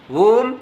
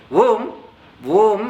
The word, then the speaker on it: Om: Om I mentioned, and Om 3 syllable. 3 syllable Om opens up. Om is a monosyllable. Om opens up as 3 syllables. A, U, Ma.